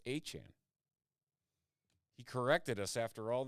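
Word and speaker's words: Etienne: Now a Saint Keshan Johnson or I should say Achan is how it's pronounced. It's not ETN, it's Achan.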